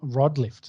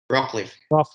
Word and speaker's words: Rockliff: Tom Rodlift. Is that how you say it? Rockliff. Why'd I say Rob? It was Rock.